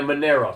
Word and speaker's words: Monero: Okay, and a Monero, spell that. Monero, right. Those are good. Dash is good. M-O-N-E-R-O? Correct. As in like an Italianized version of the idea of money.